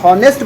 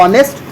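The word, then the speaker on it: honest: हो तब ठीक है तो जब मैं ऑनेस्ट बोल रहा हूं ऑनेस्ट तो ये कैसा एक वावेल साउंड ए रहा है इसलिए हमारे पास इससे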